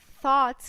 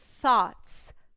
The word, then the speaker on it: thoughts: Na hora de pronunciar essa palavra, você precisa ter muito cuidado, porque o TH exige que você coloque a língua no meio dos dentes para que o som saia perfeito.